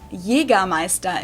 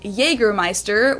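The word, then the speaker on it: Jägermeister: the way from shoes to alcohol this is pronounced yiga maesta in German English speakers usually say Jagermeister which is pretty much the same just with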